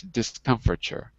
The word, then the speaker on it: discomfiture: Anyway, but the pronunciation is discomfiture. Discomfiture.